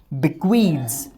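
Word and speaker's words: bequeaths: बिक्वीद, बिक्वीड्स। अच्छा जब इसमें SAES लगेगा तो इसका सही उच्चारण क्या रहेगा, बिक्वीड्स, बिक्वीड्स। ये ज की साउंड देगा, बिक्वीड्स। चलिए फर्स्ट फॉर्म अब इस वर्ड की देखते हैं।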